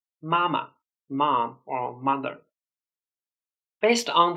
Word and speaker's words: 妈妈: The word 妈妈 also means mom or mother, but the second 妈 should be pronounced as neutral tone. 妈妈, mama, mom or mother.